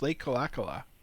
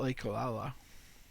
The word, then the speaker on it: Le Kalakala: It's Le Kalakala, not Le Kalala.